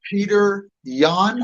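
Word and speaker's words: Petr Yan: And he fought Peter Yan. Is that how you pronounce it?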